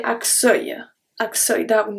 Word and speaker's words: accueil: Accueil. So here we could think that the U is silent after the double C, but not at all. The U, E, I, L, L make the sound œil, œil.